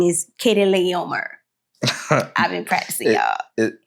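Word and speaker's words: Chedorlaomer: I had to look it up because I'm like, how do you pronounce that? Yeah, but yes, so Kedorlaomer.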